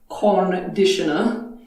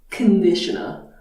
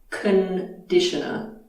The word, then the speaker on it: conditioner: It's not conditioner, it's conditioner. First vowel is a schwa. Conditioner.